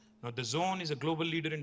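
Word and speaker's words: DAZN: It is pronounced The Zone, but it's spelled D-A-Z-N. Now, The Zone is a global leader in sports live streaming.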